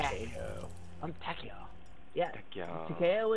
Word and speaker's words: Takeo: Takeo is how you say it.